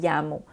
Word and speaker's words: llamo: « Me llamo », qu'on doit prononcer un petit peu comme un Y dans ce contexte-là.